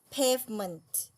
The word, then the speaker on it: pavement: ยาว รอง เอ และ ตัว นี้ เป็น เสียง ชวา ออก เสียง ค่ะ เอ อ เออะ อ pavement pavement เท่า นี้ ล่ะ